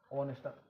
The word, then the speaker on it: honest: तो जैसे ऑनेस्ट, HONEST, इसमें एच साइलेंट हो रहा है, ठीक है, ऑनेस्ट, ऑनेस्ट बोला जा रहा है इसको, ठीक है।